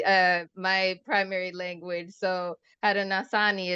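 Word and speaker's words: Haudenosaunee: my primary language so Hara nasani is how I pronounce it but you know someone original person might uh correct me on that I knew it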